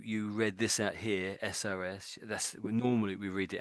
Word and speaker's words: SOS: SOS.